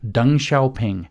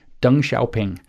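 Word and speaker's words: Deng Xiaoping: by the way is how you kind of pronounce it it's D N if you want to look him up dung sha ping d n g x i a o p i NG dung shaing okay so I've spelled it for you you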